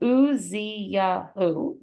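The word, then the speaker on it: עזיהו: And then Uziyahu, I actually need to count that. Uziyahu, that's 4, I thought so.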